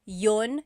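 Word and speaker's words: iyon: might hear me saying Yun Yun as if there's no I and that's commonly how it's pronounced you might hear people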